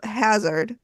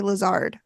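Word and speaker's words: Hazzard: died and Dr Hazard why do I keep wanting to say Lazard I don't know because it's spelled h a z z a r d so you would think maybe it was Hazard yeah Dr they all said Hazard Lazard was a green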